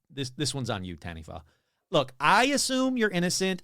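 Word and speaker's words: Taniwha: again T there we go t t Okay Tanny they're saying Tanny I looked it up even though it's spelled ta a n i wh a it's a mai word pronounced tanif so what is a tanif well that's where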